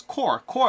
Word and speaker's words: Corps: And then lastly, we have Corpse of Discovery over here. Not Corpse, Core of Discovery. You gotta pronounce it Core.